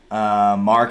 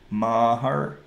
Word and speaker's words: Maher: Mark can't afford to miss any field goals in this game.